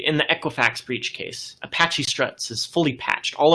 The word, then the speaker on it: Apache: Apache. That is how you pronounce it. It's Apache. All right, whatever.